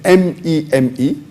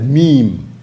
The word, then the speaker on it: meme: The spelling of the word is M-E-M-E. It's pronounced as meme, M-E-E-M, but the spelling is M-E-M-E. It's not pronounced as meme or meme. The right pronunciation is a meme.